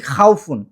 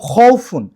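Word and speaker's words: خوف: খফুন নাকি খাওফুন? সঠিক উচ্চারণটা হচ্ছে রব্বিহি এবং খউফুন। কিন্তু অধিকাংশ কোরআনে কিন্তু রাব্বিহি এবং খাওফুন দেওয়া। যেটা ভুল।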